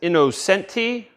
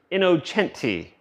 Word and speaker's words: Innocenti: Cooper inoen we have I know it looks like it says innocentti but I am told that it is pronounced inocente so if I'm pronouncing